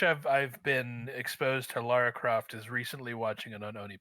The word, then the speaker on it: Lara Croft: know about the series Laura Croft okay Lara Croft but I I only say that because her name is spelled l a r a and even in the trailer they're like Laura Laura and I'm like no that's not how it's spelled all right I have